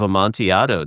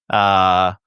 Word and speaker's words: Amontillado: The double LY sound.